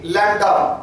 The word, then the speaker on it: lambda: उल्टा y की तरह से बनाइएगा, स्पेलिंग है LAMBDA, लैम्डा प्रोनाउंसिएशन है इसका.